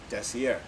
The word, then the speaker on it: Desiar: word desire i spelled it uh d-e-s-i-a-r and pronounced it decier so uh that's the core of desier it's always been about unique materials from swarcy